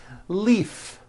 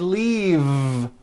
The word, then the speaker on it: leave: with a voiced V Leaf I'm in a hurry and I need to Leaf is that correct no it's not leaf with an unvoiced F I should have said leave with a voiced V sound faisa she just